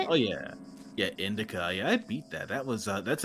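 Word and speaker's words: Indika: Yeah, Indica.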